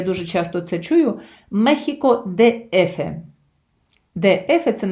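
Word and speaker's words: México: Іспанською мовою і країна, і столиця вимовляються і пишуться однаково. Мехіко. Оця екість читається як хота.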